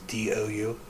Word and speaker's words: Dougherty: Last name is Dougherty. You pronounce it Dougherty?